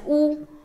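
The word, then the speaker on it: 巫: This sign pronounced as Wu, it means shaman and shamanism.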